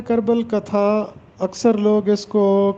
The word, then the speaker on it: کربل کتھا: Topic ہے کربل کتھا۔ اس کا درست تلفظ ہے کربل کتھا۔ اکثر لوگ اس کو کربل کتھا پڑھتے ہیں جبکہ درست تلفظ ہے کربل کتھا۔ کربل کتھا کے معنی